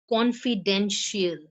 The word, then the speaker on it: confidential: Alone, confidential. See here, the stress is on con and den, if you can see.